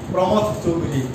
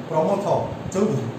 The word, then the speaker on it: প্রমথ চৌধুরী: প্রমথ চৌধুরী, তার নামটা উচ্চারণ করার সময় অনেকেই প্রমথ চৌধুরী উচ্চারণ করেন, আসলে সঠিক উচ্চারণটা হবে প্রমথ চৌধুরী।